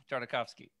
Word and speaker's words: Tartakovsky: tavasi man I can I'll never say his name right okay you can say it for me Jared tartakovsky tartakovsky there you go that's right it's like we're